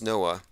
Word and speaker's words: NOAA: oceanic and atmospheric administration noaa it's actually pronounced noah that their main symbol